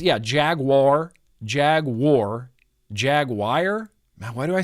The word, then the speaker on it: Jaguar: it's Jaguar I heard a British person say jaguar and I went well that's probably correct he sounds very confidently correct it sounds like he knows that he's saying that correctly and we're all saying it wrong Jaguar Jaguar well we're